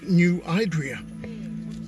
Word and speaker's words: New Idria: And I think the next place I'm going to check out is New Idria, or as I've been told, locals pronounce it, New Idria.